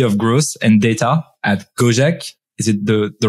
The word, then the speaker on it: Gojek: the senior VP of growth and data at gojek is it the the right way to pronounce it yes that's right that's correct an